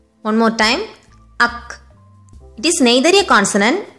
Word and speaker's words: ஃ: It is pronounced as Ak. One more time, Ak.